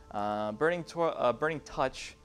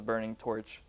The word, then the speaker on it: Burning Touch: Burning Touch, Murkwater Butcher, or Nixox. This is like top 10 most mispronounced cards. I always thought it was Burning Torch, but it is not.